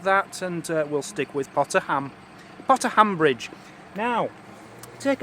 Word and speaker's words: Potter Heigham: we are at too dear a place called pata Higham now that's how it's spelt but it's actually pronounced local is pata ham I don't know how they get ham out